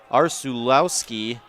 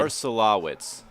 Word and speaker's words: Arsulowicz: That's number 17, Andrew Arsulowski. I completely butchered that. There's a reason. There's a reason that Coach Carden gave us a pronunciation guide. Arsulowicz. Arsulowicz.